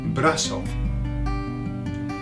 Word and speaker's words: brazo: Brazo. Okay. Pronounced in Latin America, brazo.